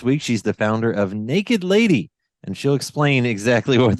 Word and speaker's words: NKD LDY: that don't know it's it's spelled or stylized nkd ldy yes yes so naked lady without the vowels um well so I